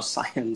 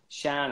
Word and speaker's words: Cian: It's pronounced Sean. I thought it might have been. Sean. Sorry about that, Sean. So not that I mind. Sorry, Sean. Yeah, Shan. Shan, actually. It's Shan.